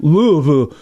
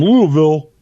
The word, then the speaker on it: Louisville: what was that word Louisville uh because there it's it's Louisville because there was a King Louie in France King Louie uh there